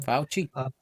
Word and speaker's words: Fauci: Others are saying that 2036, 16 years out, the gentleman from Fauci, how do you pronounce his name? Fauci.